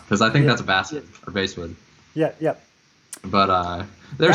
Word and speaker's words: basswood: Basswood is what I've been told it is. I think it's bass. Yeah. Like the fish, apparently.